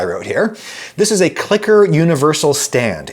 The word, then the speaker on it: CLCKR: But I happen to know that the actual people who own and operate this company pronounce it Clicker, and they happen to be the sponsor of this video.